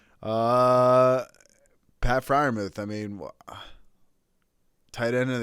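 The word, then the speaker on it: Freiermuth: to say his name's pat his name's pat friar ruth it's the same name as our dad yeah the same as my middle name uh pat fryermuth i mean tight end of the year i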